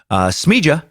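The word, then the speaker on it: Smiljan: Tesla's birthplace, Smija, there I'm saying it right, in the mountains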